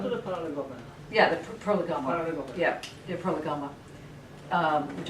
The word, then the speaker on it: Prolegomena: Yeah, the Prolegomena. Prolegomena. Yeah, the Prolegomena, which I've never pronounced right, and it's always irritated me.